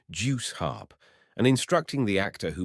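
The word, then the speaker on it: Jew's harp: He objected to the customary pronunciation of Jews harp, insisting that the word should be juice harp, and instructing the actor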